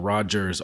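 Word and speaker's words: Rodgers: I'm talking about Mr Rogers r o d g RS we we don't we don't talk to that guy the D is silent take that take that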